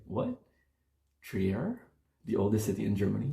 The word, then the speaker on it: Trier: This is akin to like me pronouncing Trier as Trier.